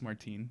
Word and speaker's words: Martine: Martin can't dance uh it's spelled like Martin but it's Martine you know like Martini without the idea um I've been live